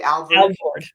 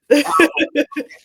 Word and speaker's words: Alvord: Am I pronouncing his name correctly? Alvord. Alvord.